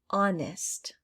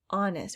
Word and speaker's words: honest: and lastly silent h honest honest we don't say honest you don't hear that h but it is definitely there let's go ahead and